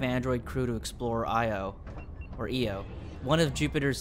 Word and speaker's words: Io: Android astronauts to explore EO, I think it's pronounced. Hackers target solar panels for latest ransom scam. Yikes. NASA announced the launch of a 5 android crew to explore Io, or EO, one of Jupiter's satellites.